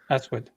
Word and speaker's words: aswad: It's it's pronounced like Aswad. Yeah, Eswid. It's like if you were to take out the R and just pronounce.